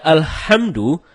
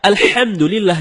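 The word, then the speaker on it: الحمد لله: ketika membaca alhamdulillahirobbilalamin HD membaca alhamdulillah tidak menggunakan hak dalam kerongkongan kalau kita membaca alhamdulillah dengan head dalam kerongkongan ya artinya segala puji bagi Allah dan sebaliknya kalau kita baca alhamdulillah alhamdulillah bukan tenggorokan maka artinya segala kematian jauh berbeda begitu juga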